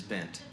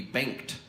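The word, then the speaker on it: Bengt: In Sweden, you would actually pronounce the G. It would be banked.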